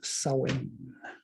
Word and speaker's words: Samhain: fall and winter solstice it's samhain or pronounce sowing anyway you can look